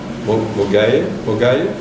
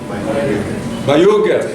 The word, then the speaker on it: Mayuge: I know that the School of Public Health has initiated the Iganga Mogaye. Is that, how do I pronounce it correct, Eliseus? Mayuge, thank you, you see.